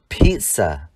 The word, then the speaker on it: pizza: Trong danh từ bánh pizza, ZZ được phát âm là pizza.